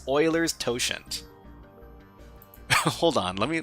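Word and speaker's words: Euler: So, how do you pronounce this name? Oiler. Oiler. Oiler. Yeah, that's hard for English speakers to pronounce. Oiler. Huh. I'm I don't know if I'm going to keep on pronouncing it uler because it just seems a lot easier. Sounds like Oiler.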